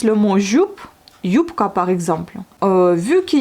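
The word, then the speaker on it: юбка: un peu sourde, donc yupka. Mais elle s'écrit bien B. Donc on écrit bien le B, mais ça se prononce comme un P.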